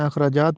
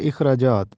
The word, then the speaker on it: اخراجات: اس کو کہتے ہیں۔ اخراجات، یہ درست تلفظ اخراجات ہے، الف کے نیچے زیر لگا ہے، ہم اس کو زبر کے ساتھ پڑھتے ہیں، اخراجات پڑھتے ہیں جو کہ غلط ہے۔ درست تلفظ ہے اخراجات۔ یہ درست تلفظ ہے